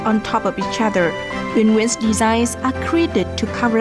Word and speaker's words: Nguyen: She's also launched the fashion brand Nguyen Nguyen, which is how her name is pronounced, to introduce her unique designs to people everywhere.